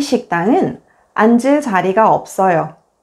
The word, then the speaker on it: 앉을: When the 겹받침, 니은, 지읒 is followed by a vowel, only the first consonant, 니은, is pronounced and the second consonant, 지읒 becomes the initial consonant in the next syllable. For example, 얹어, 앉을, 앉으세요.